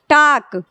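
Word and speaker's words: talk: यह हो गया आपका टाक इसमें भी हमारा ए एल पास में है तो एल का उच्चारण नहीं हो रहा है ठीक है उसी तरह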